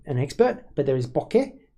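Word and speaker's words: bokeh: expert but there is Boke where it goes up at the end and there's B where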